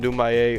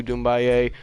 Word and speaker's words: Doumbouya: And I might look to be moving Doumbouya, or I'm pretty sure that's how you say his name, Sekou Doumbouya, to the 3 spot.